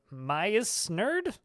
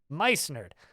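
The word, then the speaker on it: Meissnerd: And Maya's Nerd? How do you say that? Maya's Nerd? I know the second part. It's the first M-E-I-S-S part that's confusing me. But Mice Nerd.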